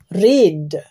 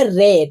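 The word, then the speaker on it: read: রিড, রিড মানে পড়া। এর V2 হবে রেট, বানানটা একই থাকবে, উচ্চারণটা শুধু পাল্টে যাবে, উচ্চারণটা হয়ে যাবে রেট।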